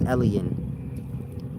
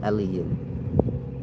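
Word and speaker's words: Elyon: This is Ellen. E L Y O N. That's what they called it in Hebrew times. Elen, maybe y'all pronounce it in the day times. Elon, the most high.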